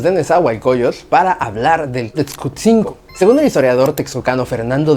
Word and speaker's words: Tetzcutzinco: variante de nuestra región el sonido de la letra G no es parte de los sonidos de la lengua náhuatl. Por eso no es correcto utilizar la palabra Texcotzingo si se quiere utilizar